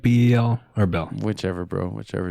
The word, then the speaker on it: BEL: don't jess Jessie no I say Bel um cuz be okay in Canada we have a telecomunications company called Bell b l l so I try to separate from that I just Bel L but when people